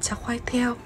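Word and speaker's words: char kway teow: Món tiếp theo thì mình không biết đọc tên đâu, nhưng mà theo cái cách mà chị bạn Malaysia dạy mình thì được đọc là cha khoai theo, với từ cha có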